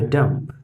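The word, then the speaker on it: dumb: हैं, ये लिखा है डम्प। डम्प दैट मीन्स गूंगा। तो यहाँ पे डम्प लिखा है, लेकिन इसका प्रोनाउंसिएशन इसको हम डम पढ़ेंगे। क्या पढ़ेंगे, डम। इसका करेक्ट प्रोनाउंसिएशन डम होगा।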